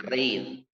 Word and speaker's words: reír: Aquí está, reír. Reír es bisílaba, pero termina en R y está acentuada.